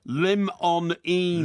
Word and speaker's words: limonene: Limonene. Limonene. That's limon with an E-N-E on the end, limonene.